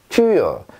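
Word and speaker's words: Tür: 자, 일단 발음 한번 보시죠. 튜요, 튜요 이렇게 하시고요.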